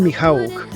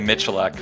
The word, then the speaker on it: Michaluk: Today on the show, we have Michaluk. He doesn't like to use that pronunciation. Michaluk, right? Michaluk. Raised Canadian, we say Michaluk.